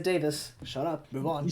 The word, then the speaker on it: Davis: say is Gable Davis you said his name wrong but yeah I just can't believe us no you said Gable daveless I said Davis shut up move on he said he said Dave list oh you want to